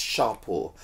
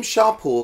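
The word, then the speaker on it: Champo: are two products from shampoo which is actually pronounced sharp or and it's a British based brand taking inspiration from his founders Indian heritage the name Sharpe all comes from the Sanskrit origin of the word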